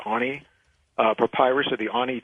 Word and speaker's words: Ani: papyrus if you're familiar with the Ani it's pronounced Ani for pirates of the